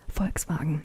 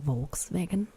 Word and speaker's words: Volkswagen: Volkswagen, that's another thing. Americans say Volkswagen, which is wrong. Because it is Volkswagen.